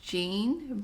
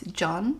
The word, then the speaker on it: Jean: the names incorrectly but i was pronouncing his name as jean but it's from what i just heard it's john his brash personality is